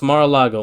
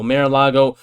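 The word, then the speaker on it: Mar-a-Lago: this was a hoax you can't pronounce Mara Lago Mar Lago like bro it's a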